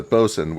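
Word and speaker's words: boatswain: also Cox which is similar to bosen which is spelled boat Swain originally that's dumb that's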